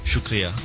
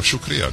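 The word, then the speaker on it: شکریہ: thank you in hero shukria oh shukria just like Arabic shuk yeah very powerful I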